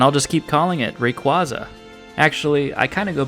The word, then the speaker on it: Rayquaza: Rayquaza is actually how you pronounce its name, which, yeah, I know it's based on the word quasar, so that makes sense, but you know what?